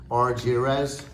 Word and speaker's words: Argires: I like, again, just me personally, I love the pronunciation thing in the back. It says RJZ.